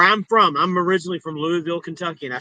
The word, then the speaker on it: Louisville: Louisville. It's I thought it was Louisville people. That That ain't the right way to say it. Those are the uneducated people. But it's Louisville. But anyway, they built a stadium.